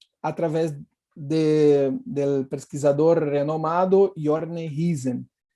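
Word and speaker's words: Rüsen: Segundo a teoria da didática da história, através do pesquisador renomado Jorne Hisen. Em espanhol é comum a pronúncia Husen, que denomina abreviaturas narrativas.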